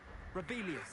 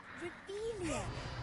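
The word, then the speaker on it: Revelio: Rebellious. Saying it wrong. Ugh, Rebelia. Much better.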